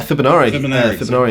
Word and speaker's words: Fibenare: So tell me about this beautiful guitar that you're holding, because you endorse Fibenare, is that how you say it? Yeah, Fibenare in Hungary.